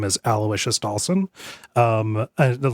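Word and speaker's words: Aloysius: in one of the chapters whose name is Alawishius Dawson. Um, and like the not famously, but on Abject Suffering, I mispronounced Alawishas as Aloyas because I had never I had heard the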